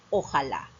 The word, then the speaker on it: ojalá: similar a la ola se pronuncia por separado pero nosotros al adaptarlo lo pronunciamos juntos como una sola palabra y decimos ojalá no te olvides la